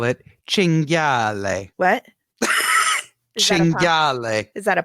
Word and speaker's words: cinghiale: from San Francisco so that he could make cinghiale pasta. Cinghiale, wild boar. That was a great pronunciation.